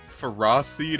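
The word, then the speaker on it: Ferroseed: you know how the the official pronunciation according to Pokedex 3D a phosed and Ferrothorn is pronounced Ferra seed and Ferrothorn I'm not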